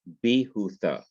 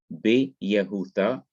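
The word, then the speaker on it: ביהודה: becomes li to judah the same thing happens in judah you have bihutha instead of be yahutha the yoth disa um the yoth becomes silent the simple showa disappears and the yoth and the short heritage join together to form the long herique so you have b utha b hutha and as judah is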